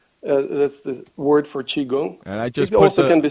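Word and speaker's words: Qigong: g o n g that's the word for chiong I just also can be spelled c h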